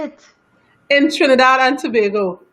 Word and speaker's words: Tobago: In Trinidad and Tobago. Tobago.